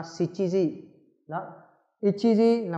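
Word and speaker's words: 七時: Người ta không nói là nanaji mà ta đọc là shichiji.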